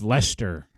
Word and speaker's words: Leicester: worcester and and where there's leicester leicester lyster sister yeah uh lester folks it's lester all right here are